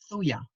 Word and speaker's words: Thuja: Spell that for me, please. Thuja, thuya.